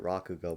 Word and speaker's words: rakugo: do you say it i pronounce it rakugo but i don't know if it's right or not rakugo sounds about right yeah yeah i i